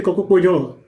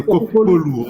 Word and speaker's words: Kokopolou: Bonjour, docteur Kokopoyo. Il faut bien prononcer mon nom de famille, c'est Kokopolou.